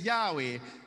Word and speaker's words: Yahweh: call you he says my name is yahweh spells y h double h and it is pronounced y a h h e w now this word appears